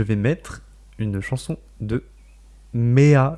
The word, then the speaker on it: Mea: Moi, je vais mettre une chanson de Mea, je sais pas comment ça s'écrit, enfin ça se prononce M-E-A, Mhm.